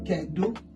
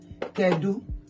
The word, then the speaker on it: kedu: In Igbo is kedu. It's a question mark. That is question mark. Kedu.